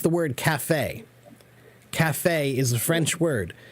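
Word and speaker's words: café: C but we don't we keep the French pronunciation right so um yeah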